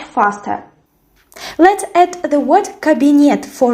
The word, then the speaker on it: кабинет: Let's add the word кабинет for rhyme. Кабинет is cabinet in English, so in Russian the stress falls on the last syllable.